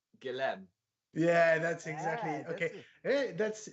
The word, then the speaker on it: Guillaume: so if i'm reading that i would say gillem yeah that's exactly okay that's nearly because it's william in english so but it's guillaume yeah exactly good that's totally if i don't